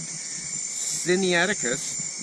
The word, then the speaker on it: Sinaiticus: So Sinaiticus is pronounced Sinaiticus. The stress lines on the third syllable.